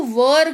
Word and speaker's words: were: थे के जगह पर आपको वर का यूज करना है। WERE लिखा हुआ है, लेकिन वेयर नहीं पढ़ते हैं, इसको वर पढ़ते हैं।